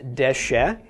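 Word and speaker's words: דשא: All right, first off, this is Dalet Shin Aleph, pronounced Deshe.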